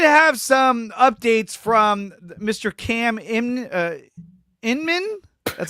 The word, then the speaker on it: Cam Inman: Cam Inman. That's how you pronounce it, right? Inman? Yes, Cam Inman.